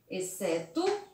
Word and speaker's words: exceto: encontramos o x com som de dois ésses observe lá exceto excelente exceção e excesso e observe aqui que eu retiro o x e eu coloco os dois ésses também não vai mudar a pronúncia da palavra e eu vou conseguir ler espeço excelente esses são e esperto mas a grafia estará errada porque essas palavras são escritas com x mas tem o som de ss vamos ver